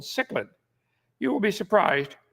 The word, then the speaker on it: cichlid: Tonight, making babies, the cichlid fish. I would not pronounce it cichlid, but that's what they do, so it's called cichlid.